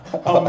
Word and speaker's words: humble: both of those because how do they vote on what humble or Umble it's spelled the same I didn't think about that the H Umble so the greats never